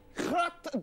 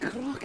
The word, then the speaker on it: crotte: Crotte de nez. And Wood gets us off to a 0.4 here in this second leg of the French bogeys. McCourt to respond. Crotte de nez.